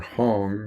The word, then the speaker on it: Hong: It's Hum So, or Hum Sa, or Hong, like in Hong Kong, and Sa, S-A-U, like in, it's pronounced, like a cross-cut saw.